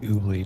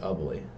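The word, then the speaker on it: Ubly: It'll always be ooly to me. I knew I knew it was different because I remember this happened last time. It's ugly. like uh pronounced like ugly.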